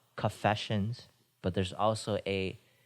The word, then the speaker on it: Coffeesessions: It's called Coffeesessions. Coffeesessions. Yes, sir. Yeah. Don't mistake it for confessions. It's also spelled like coffee and then shuns.